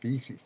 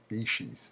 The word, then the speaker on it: feces: to say the word it's feces not FES well I want to